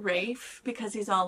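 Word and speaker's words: Ralph Fiennes: of the finds Ralph Ralph but doesn't he pronounce it Rafe because he's all like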